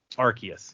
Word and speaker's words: Arceus: funny because this was always for me um arceus is that how you say it arceus yes this is always like arceus what's awesome